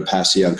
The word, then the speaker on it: Passyunk: is to go to Passyunk Square. Mm-hmm. And it sounds like it's spelled if you Google it, but that is just